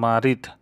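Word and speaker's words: مريض: তো আরেকটা শব্দ আছে মারিদ, মারিদ মানে অসুস্থ, উচ্চারণটা এরকম হবে মারিদ মানে অসুস্থ, এবং এটা মারিদ শব্দটা বেশিরভাগ ক্ষেত্রে ব্যবহৃত হয় যারা বেশি অসুস্থ তাদেরকে বলা হয় মারিদ।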